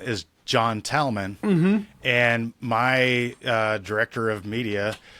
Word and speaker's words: Tallman: Tillman. And then you pronounce John's name wrong though. It's John Tallman. No, that's it's what not I say. Man, it's Tallman.